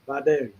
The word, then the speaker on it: Vidalia: And that is the proper pronunciation, Vidalia.